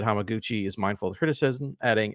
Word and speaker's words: Hamaguchi: Haiku Hamaguchi, maybe? Hamaguchi is correct.